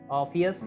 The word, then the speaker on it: Orpheus: Right, මේ වචන දෙක pronounce වෙන්නේ Orpheus and Eurydice.